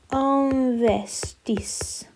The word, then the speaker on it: investissent: Il ou elle investissent. Because don't forget, we don't pronounce the ENT.